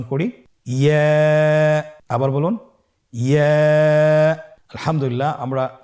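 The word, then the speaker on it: ياء: পরবর্তী হরফটির নাম হলো ইয়া। পরবর্তী হরফটির নাম ইয়া। পরবর্তী হরফটির নাম কি? ইয়া। ইয়া হরফটি উচ্চারণের ক্ষেত্রে বারিক হবে এবং 1 আলিফ টেনে পড়তে হবে।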